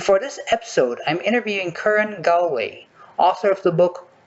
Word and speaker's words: Curran: All right, just to be sure, I pronounced your name correctly, right? I mean, we spoke about Yes. it, but Curran.